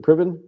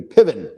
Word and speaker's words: Piven: Jeremy priv Piven priven how do you say his name is it priven Jeremy yeah Jeremy pivon okay the quintessential best friend